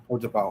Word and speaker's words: Utapau: the um the planet called Utapa Utapa Utapau or or I don't know how you say how how you pronounce it. It's called Utapa.